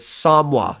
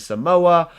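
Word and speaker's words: Somua: Now this is how you pronounce it. It is Samwa. So anybody out there wondering if they pronounce it Samoa or anything else like that, Samua, it is definitely pronounced Samwa, because I asked a couple of my French friends.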